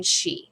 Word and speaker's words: Sidhe: Ancient Celts believed in Sidhe. Think of the word banshee. So Sidhe is spelled S-I-D-H-E. It's an Irish word, but it's pronounced she.